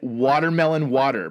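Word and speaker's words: WTRMLN WTR: Which is watermelon is spelled WTRMLN. So it's watermelon. That's the future. Yep. They're here. They've arrived. And then their spelling for water is WTR. So it's watermelon water.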